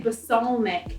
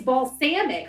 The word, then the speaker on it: balsamic: to say basalmic right I used to say basalmic and then I moved to Canada and married a Canadian and he was like basalmic it's balsamic or balsamic and so then